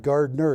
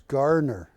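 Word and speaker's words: Garner: Yeah, it's not Gardner, it's Gardner. He loved it.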